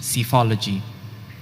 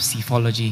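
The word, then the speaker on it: psephology: and it means the scientific study of election cyphology these are there any alternate pronunciations i just have cyphology here it may be the word cyphology cyphology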